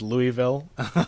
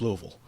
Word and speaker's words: Louisville: in Louisville Kentucky uh and which they Mis mispronounced repeatedly as Louisville which everyone always does but if you're from this area you know it's Louisville and uh Muhammad went after coming up as